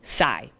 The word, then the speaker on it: xi: here's the real one the next letter is pronounced sai but when you spell sai it's actually x i and you know who